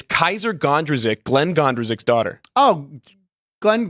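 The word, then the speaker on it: Kysre Gondrezick: Do you want to take a shot at pronouncing Jaylen Brown's girlfriend's name? No. It's Kaiser Gondrezick, Glenn Gondrezik's daughter.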